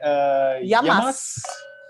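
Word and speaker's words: γειά μας: Yamas.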